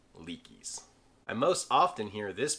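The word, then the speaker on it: Leki: If you carry this brand to Poles, you're carrying a pair of Leakies.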